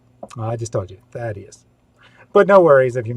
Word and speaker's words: Thaddeus: First, this highly important question: how is Thaddeus pronounced? I just told you, Thaddeus.